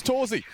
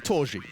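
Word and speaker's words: torzsi: Just one loose end, and his name's Torzi. Or Torji, if you wanted to say it properly.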